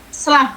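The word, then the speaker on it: slough: Ya, tadi sudah sclaf, bukan slok ya, sclaf bacanya, jaringan mati berwarna kuning.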